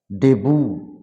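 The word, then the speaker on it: debut: তো এই সমস্ত শব্দে টি will be silent in the time of pronunciation. যেমন ক্যাচ মানে ধরা, ডেবু, ডেবু মানে অভিষেক।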